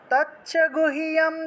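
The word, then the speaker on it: গুহ্যম্: আছে গুহিয়ম গুহিয়াম আচ্ছা এটাকে আমি রসিককার আছে না এটাকে আমি ইয় হিসেবে লিখে দেই তাহলে সকলের জন্য সুবিধা হবে গুহিয়াম একসাথে গুহিয়ম একসাথে উচ্চারণ করতে হয় তৎ গুহিয়াম এটাকে রসটাকে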